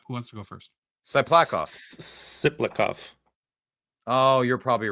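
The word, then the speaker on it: Tsyplakov: Siplakov. Yeah. The T is silent.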